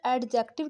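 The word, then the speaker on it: adjective: Next point हमारे पास एडजेक्टिव जिसको हम अक्सर एडजेक्टिव कहते हैं। बट the right word is एडजेक्टिव। ठीक है? इसमें डी साइलेंट है।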